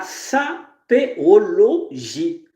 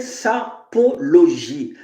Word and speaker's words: sapéologie: mets la sapéologie la sapéologie mais vous vous prononcez Sapologie non c'est sapéologie c'estàdire SAP et idologie mais sauf que maintenant